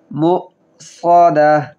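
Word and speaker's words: مُؤْصَدَةٌ: মুসাদাহ ইন্নাহা আলাইহিম মুসাদাহ সদ কিভাবে উচ্চারণ করি খেয়াল করবেন মুসাদাহ ইন্নাহা আলাইহিম মুসাদাহ ফি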